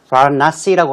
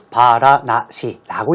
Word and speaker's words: Varanasi: 그 도시의 지명, 이름이 바라나시라고 하고 우리말로는 바라나시라고 읽으면 되겠습니다.